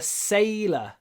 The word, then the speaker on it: sailor: А если мой отец моряк, можно сказать My father is a sailor. Открываем рот. Sailor. И вот когда мы произносим это л, мы не закрываем. Не sailor, а sailor.